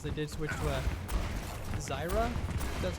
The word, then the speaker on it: Zarya: of Howard as they did switch to a Zyra. That's how you pronounce it. Zarya.